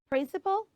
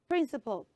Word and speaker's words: principal: manner of doing things both are pronounced the same way so it is p